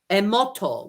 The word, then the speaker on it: Emoto: So his name is Masaru, phonetically, Masaru, Emoto, which sounds like emotion anyway.